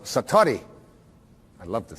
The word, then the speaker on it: satori: it's called excuse my japanese but it's called satori i'd love to say that s-a-t-o-r-i and it